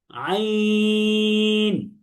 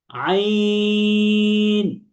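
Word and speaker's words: عين: আমরা দেখতে পাচ্ছি যে একেবারে গলার যে মাঝখান অর্থাৎ কণ্ঠনালী, এই মাঝখান থেকে আইন হরফটি উচ্চারিত হচ্ছে। তাহলে আমার সাথে সাথে একবার বলেন সবাই, আইন। বলেন, সবাই বলেন, যারা আছেন জোরে জোরে বলেন, আইন।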